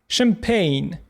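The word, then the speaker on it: champagne: І в таких випадках ch читається як ш. Шеф. Шеф-кухар. Machine машина. Champign шампанське.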